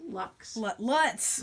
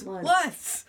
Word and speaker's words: Lutz: Lux. Lutz. How do you spell it? Leutz. Got it. Okay. Like lights, but with a U.